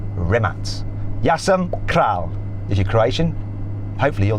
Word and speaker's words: Rimac: you very much to rimac those seeing as I'm now an honorary Croatian I should say it properly rematch is your Croatian hopefully